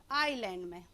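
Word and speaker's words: island: कहां पहुंचा पाएंगे इस आयरलैंड आयरलैंड आयरलैंड क्या होता है यह आईएस एंड लिखा हुआ है लेकिन यहां प्रॉमिस नहीं कर रहें हैं यह साइलेंट वर्ड है तो आयरलैंड लिखा हुआ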